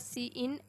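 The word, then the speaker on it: cin: इट is pronounced as सी इन an extraction operator use for this purpose.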